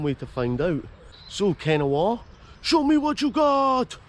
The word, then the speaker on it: Kennoway: Yep, you can see I have arrived in Kennoway, locally pronounced Kennoway.